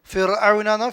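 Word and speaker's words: فرعون: ആലി ഫിർഔനാന്നോ ഫിർഔനാന്നോ? ഫിർഔന അല്ലേ. റാഇന് സുക്കൂനാണ്, തൊട്ട് മുമ്പിൽ വന്ന അക്ഷരത്തിന് കസറാണ്, ഫി എന്ന ഉച്ചാരണമാണ് അല്ലേ.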